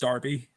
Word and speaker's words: Derby: You know, in in in the UK Derby is pronounced Darby.